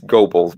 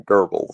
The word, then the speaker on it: Goebbels: It's Goebbels, by the way, but yeah. And if you're using proper German pronunciation, it comes out closer to Goebbels, and that's why most of the time people call him Goebbels.